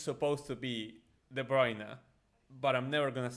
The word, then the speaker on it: De Bruyne: Because no matter how many times Kevin goes live to say that his name is De Bruyne, uh, nobody in Argentina is ever going to call him that.